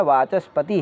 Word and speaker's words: वाचस्पति: पढ़ने बस के लिए बाकी उसको उच्चारण करने के लिए वास्तव में क्या है वाचस्पति है वाचस्पति चित्र सिख जा इस